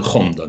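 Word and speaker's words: Gonda: и бог Лейденского университета, ну, вот он произносится Хонда, да, и он есть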